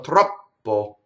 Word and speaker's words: troppo: in the US to go troppo, which is two P's, you see? And it doesn't work in singing. Troppo. And not only that, you don't have a vowel on the first syllable.